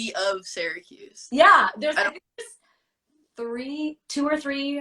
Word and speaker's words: Syracuse: Known that you were from, because the way that you say, I say Syracuse because I moved out when I was 6. Yeah. People who live in Syracuse, they say it like Sear.